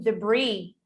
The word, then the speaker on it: debris: Which is the silent letter in debris? S.